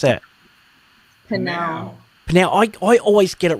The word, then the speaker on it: PNAU: How do you pronounce that? Panau.